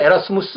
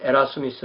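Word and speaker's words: Erasmus: 쓰 에라 슴이 있어요 옛날에는 에라스무스 이렇게 말했는데 좀더 그 원어에 발음에 가깝게 한다고 해서 요즘은 에라 스미스 라고 이렇게 그럽니다 1466 년 경에 태어난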